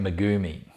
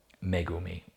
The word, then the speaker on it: Megumi: you who've read it we're probably pronouncing it magumi well you know that's probably the english way of saying it the aussie way um megumi i'm sure would sit better in japanese so i hope i